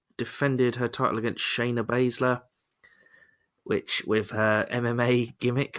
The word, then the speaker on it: Baszler: It is Baszler, isn't it? I'm pronouncing it right, yeah.